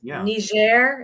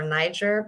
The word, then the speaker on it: Niger: the Peace Corps as I recall yes yes ner is how you pronounce or Niger but above Nigeria it's a different country people